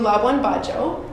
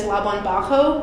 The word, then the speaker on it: Labuan Bajo: Which, by the way, I had been pronouncing it as Labuan Bajo because I spoke Spanish growing up. Come to find that I was pronouncing it entirely wrong, and it's a hard J, so it's Labuan Bajo.